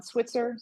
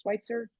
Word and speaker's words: Switzer: house and Jennings on Switzer Schweitzer I've heard it pronounced both ways feel free to reach